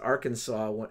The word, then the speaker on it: Arkansas: word for American tribe the French words usually have the last s silent similarly Kansas is named